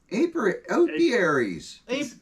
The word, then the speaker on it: apiaries: Apiaries.